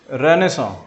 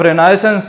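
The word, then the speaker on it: renaissance: तीसरी चीज, बंगाल की रेनेसां, उसके लिए विद्यासागर जी का नाम सबसे अव्वल है। कैसे, बंगाल की रेनेसां, जिसको आप रेनाइसेंस कहते हैं, ये रेनेसां होता है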